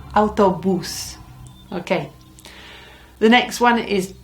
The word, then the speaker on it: autobús: And you know where the accent is on that because it's got one. El autobús.